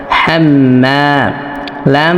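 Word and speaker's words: حَمَّالَةَ: হা মিম জবর হাম হা অবশ্যই কন্ঠনারি বা হলকের মধ্যখান থেকে উচ্চারণ করতে হবে। সকলে এটা লক্ষ্য রাখবেন। হা মিম জবর হাম মিম আলিফ জবর মা হাম্মা লাম জবর লা হামমালা এই তা এই পাশের এই সাকিনওলা লামকে ধরবে।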